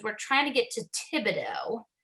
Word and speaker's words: Thibodeau: trying to get to Thibodeau, which is spelled very weird. It's spelled French. And no one that was at the callbacks really knew how to say it. And I remember people sort of stumbling over it or saying like, how are we going to get to the Bodocs?